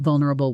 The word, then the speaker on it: vulnerable: It took a lot for her to be that vulnerable with me. Say it with me, noticing the stress on the first syllable.